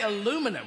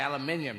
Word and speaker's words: aluminium: say caterpillar and uh now you say aluminum we say aluminium you say centrifugal we